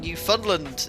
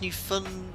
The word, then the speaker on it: Newfoundland: It's 5:20 AM here in Newfoundland. Is that correct? No, it's Newfoundland. Oh no, I could never. Newfoundland? Oh, I thought it was Newfoundland.